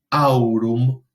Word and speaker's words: aurum: cualquiera de estos tres, tenemos que poner énfasis a la hora de pronunciar esa palabra en el primer elemento del diptongo. Entonces leemos caelum, aurum, foedus.